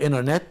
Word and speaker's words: internet: The American people في اي حاجة اسمها انتر مش بننطق التي، فبقول انترنت، بقول انترناشنال، فممكن احصل عليها من اللي هي الانترنت او من CD-ROMs.